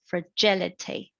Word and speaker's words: fragility: balance in this case the stresses on the second syllable fragility and then we are